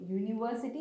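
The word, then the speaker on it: university: பட் இதோட pronunciation எப்படின்னா, இதோட சவுண்ட் எப்படி வரும்னா ஒய் சவுண்ட் தான் வரும். யூனிவர்சிட்டி இஸ் the pronunciation, and அதோட ஸ்டார்டிங் சவுண்ட் வந்து ஒய்.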